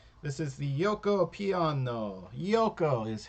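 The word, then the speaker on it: Giuoco: in the center this is the yoko piano yoko is how it's pronounced g-i-u-o yoko piano yoko means game piano means quiet so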